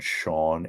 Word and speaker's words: Schawn: And Dave and Randy had a camper at a place outside of Oberlin called Sean Acres. Okay. And it's not, it's spelled SCHAWN, whatever.